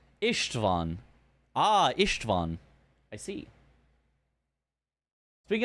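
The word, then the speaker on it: István: The S is pronounced more like a short SH sound. Ishtvan.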